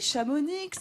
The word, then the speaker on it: Chamonix: de grammaire avec chamonix chamounix avoriaz avoriaz btb textes comme on dit c'est choquant c'est le biscuit s'échappe onyx on prononce pas la dernière moi j'avoue on ne prononce pas la dernière lettre pourquoi parce qu'en fait